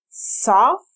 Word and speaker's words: software: La primera parte es soft. Si no sabes cómo decir esa A, no es O ni es A, es soft. Software.